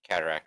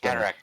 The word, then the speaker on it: cataphract: But Well, usually when you put a PH next to one another, it's more of an F sound. So cataphract, I'd imagine.